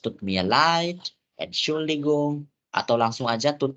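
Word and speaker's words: leid: Mia light ingat baik-baik Kenapa light bacanya karena e bacanya I me light aku min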